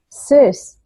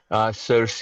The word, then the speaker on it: Circe: I don't know how to pronounce it. Circe, Circe. Circe, yeah.